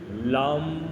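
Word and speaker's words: लं: जाता है वह है ल के ऊपर म की मात्रा बिंदी लग जाती है तो यह लम बनता है ल और म इसका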